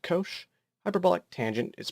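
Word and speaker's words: cosh: sine is pronounced cinch hyperbolic cosine is pronounced Kosh hyperbolic tangent is pronounced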